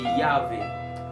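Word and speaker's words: Yahweh: cours de l'hébreu biblique ne prononcez pas le mot Jéhovah car ça n'a pas de sens dans la Bible. Je parle de Yahé.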